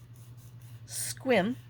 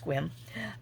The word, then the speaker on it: Sequim: house, my aunt, in Sequim, even though I call it Sequim, but it's pronounced Sequim, and stayed with her